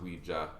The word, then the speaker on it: Ouija: Yeah, but it's actually pronounced Ouija. Ouija, yeah.